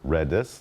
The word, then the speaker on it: Redis: to understand are these Redis is an acronym the name itself as an acronym for remote dictionary server and this acronym and it spelled or actually pronounced Redis not greedy or something like that the name remote dictionary